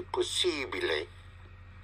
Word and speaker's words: possibile: In the Italian would be possibile. Possibile. Possibile. Because the letter I is always pronounced E.